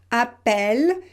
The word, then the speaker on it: appel: Vous pouvez aussi mémoriser que quand vous avez deux consonnes, par exemple ici deux consonnes identiques, appel, c'est aussi le « est », appel.